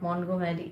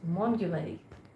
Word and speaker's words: Montgomery: The group of not Montgomery is Mont you marry.